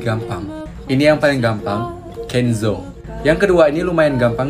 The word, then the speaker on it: Kenzo: dan ini lebih gampang ini yang paling gampang kenzou yang kedua ini lumayan gampang dibacanya fms yang ketiga ini lumayan gampang balmond